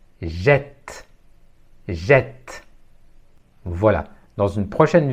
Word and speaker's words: jette: s'écrit avec de T je ne prononce pas le E final mais je dois ouvrir le E avant la double consonne t jette jette voilà dans une